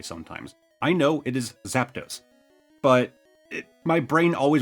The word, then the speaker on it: Zapdos: Kid me grew up pronouncing it Zapados like Z- A P A D O S